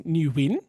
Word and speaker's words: Nguyen: correct pronunciation is Nguyen. You We're win. not Vietnamese, so we're going to call him Nguyen because it's Because we're just Aussies.